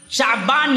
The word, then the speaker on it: شعبان: آتا، شعبانتن نہیں آتا، شعبان ہی آتا ہے، اور صحیح تلفظ اس کا ہے شین فتحہ والا، عین سکون والا، شعبان۔ شعبان اصل میں نکلا